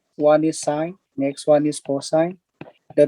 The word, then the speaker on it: sine: right here so this sign right here it is represented in shortcut sin don't read it as sin this is called sign similar pronunciation with this one